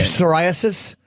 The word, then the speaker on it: psoriasis: psoriasis? That is a silent P.